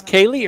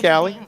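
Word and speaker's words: Kallie: Now, is this Kaylee or Callie? What's she going by today? We're calling it Callie. All right. Spelled with a K, like the movie California with Brad Pitt.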